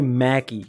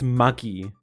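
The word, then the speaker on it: Magi: You say Maggie. It's muggy. M uh m a gi like like the ball. Muggy.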